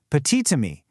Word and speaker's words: petit: Well, if petit is followed by a word that starts with a vowel, like amii, that silent t suddenly jumps back to life to link the words. So, it becomes petite.